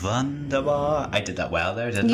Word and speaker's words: Wunderbar: Just that was when I first realised that Germans pronounce their W's as V's. Wunderbar.